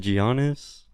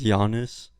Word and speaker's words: Giannis: in the earlier yeah giannis combo oh did i say it wrong is it giannios pretty sure it's giannis don't look at them